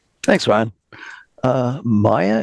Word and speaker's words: Maya: Uh Maya, if I have your name pronounced correctly. Yes, it's Maya Maka, but Maya is fine and you pronounced it correctly.